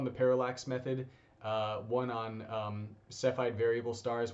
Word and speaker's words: Cepheid: So you can find some videos, two on the parallax method, one on Cepheid variable stars, which can also be pronounced Cepheid apparently. I looked it up, that is the correct pronunciation, that's the one used in the video, as well as redshift.